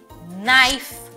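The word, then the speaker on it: knife: এরপরে আসি কে তে, কে যখনই এন এর আগে আসে তখন সাইলেন্ট হয়ে যায়, যেমন নলেজ, নাইফ, নো, নি, এখানে কিন্তু কে সাইলেন্ট।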